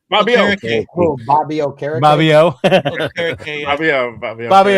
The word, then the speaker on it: Okereke: Bobby Okereke.